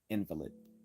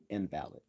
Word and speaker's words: invalid: a good one uh so when we accent the first syllable we are speaking of a sick person invalid but when we accent the second syllable we are speaking of argument failing to meet the deductive standard of being being valid invalid uh so by not